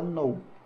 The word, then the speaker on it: know: Esse know, que é o verbo saber, você não precisa pronunciar esse K. Tá? Você fala know.